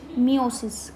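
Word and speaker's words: meiosis: ठीक है, इस प्रोसेस को आप बोलोगे मियोसिस। क्या बोलोगे, मियोसिस। दोनों के नाम आपको सेम रख रहे होंगे, लेकिन प्रोनाउंसिएशन बिल्कुल अलग है, ई का फ़र्क है, आई का फ़र्क है, माइटोसिस एंड द मियोसिस।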